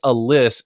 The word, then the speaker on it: Alyss: It's Miss Alyss, as in Alyssa.